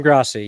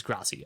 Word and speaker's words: Grassi: Tom Grossi. Yeah, yeah. It is Grassi.